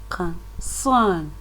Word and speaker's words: concern: That is how it should be pronounced. Concern.